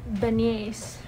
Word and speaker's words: beignet: I'm gonna get some beignets. I'm gonna get butchered for saying that wrong.